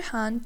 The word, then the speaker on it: ح: The letter ha comes from the middle of the throat. It is a breathy sound with stronger airflow.